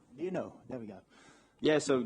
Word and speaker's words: Lienou: Is that how you pronounce it? Lienou. Lienou.